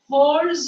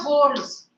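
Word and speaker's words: whorls: the parts of the flower are known as holes of the flower what are the holes w w is silent now H pronunciation starts from H the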